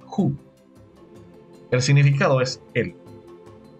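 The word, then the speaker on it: הוא: Ahora, la quinta palabra es la palabra El, que se pronuncia en hebreo Hu.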